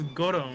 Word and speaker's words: Gorou: It's Goro.